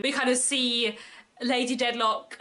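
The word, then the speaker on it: Dedlock: the storyline of Lady deadlock and Esther and you know the fact that lady deadlock had a child out of wedlock I'm pretty sure her name rhymes with wedlock on purpose but also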